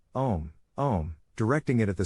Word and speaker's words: Om: In other words, it should sound like a long, drawn-out version of the word home without pronouncing the H.